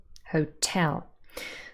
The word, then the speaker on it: hotel: we could also have words like hotel also two syllables where the stress falls on the last syllable hotel so this is word